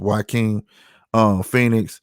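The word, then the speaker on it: Joaquin Phoenix: to spell start with his J but it's pronounced y king Phoenix he played the Joker in new Joker movie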